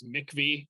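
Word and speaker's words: MIECHV: Most people just refer to that once they are familiar with it as Mickvy, which is kind of a weird pronunciation of those letters.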